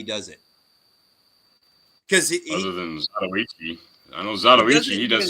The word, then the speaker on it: Zatoichi: Zadachi. Yeah. Zadachi. Samurai. Zadachi. Zatoichi. That's what he's talking about.